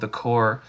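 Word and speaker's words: The Corps: So one is called The Core, and it's spelled CORPS, The Core, and they are just amazing skate punk.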